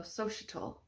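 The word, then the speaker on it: Xochitl: Reya Sochiel. Her name means queen flower. You could also pronounce Sochiel, Sochital.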